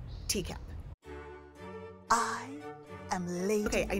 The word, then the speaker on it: Teacap: Teacap! Because it rhymes with recap, but it's tea.